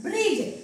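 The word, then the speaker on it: bridge: नाही वाचलं आपण याला फक्त काय वाचलं आपण ब्रिज मग ह्या शब्दांमध्ये ब्रिज मध्ये डी काय आलेलं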